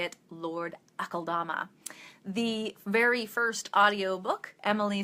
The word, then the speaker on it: Akeldama: I say it Lord Akaldama. The very first audiobook, Emily says it Akeldama, and that's wrong as far as I'm concerned.